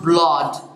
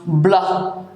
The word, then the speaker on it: blood: And this is pronounced blood. It's never ever blood. C'est pas prononcé blood, it's pronounced blood, blood.